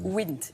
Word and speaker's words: Wnt: WNT, mais on prononce WINT.